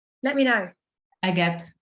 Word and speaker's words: Agathe: Is it Agathe or Agatha? Let me know. Agathe. It's Agathe. It's like the stone.